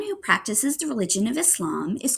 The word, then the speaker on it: Islam: A lot of Americans pronounce it Islam, kind of with a Z. But a lot of people who practice the religion pronounce it Islam, like with an S.